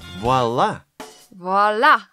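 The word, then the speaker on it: voilà: Voila! Voila! That's right, very good French pronunciation.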